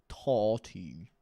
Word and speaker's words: Tati: Apparently, I still fucking pronounced it wrong. Tati. Sorry, Tati Westbrook. We say Tati.